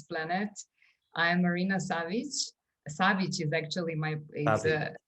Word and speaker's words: Savić: souls from this planet i am marina savic savage is actually my pronunciation i know but a lot yeah a